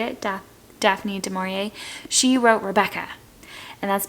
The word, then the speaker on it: Daphne du Maurier: It's Jamaica Inn, and it's by Daphne du Maurier, I think, actually, is how you say it. Daphne du Maurier.